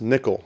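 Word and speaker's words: N1QL: see a server yes Nikhil so n1 QL there's no talking you out here that's how we pronounce it n1 ql so this is just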